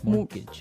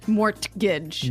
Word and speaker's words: mortgage: with a t yeah it has a t in it but you don't pronounce it you say mortgage morgage so not Mort Mortage not morgage morgage morgage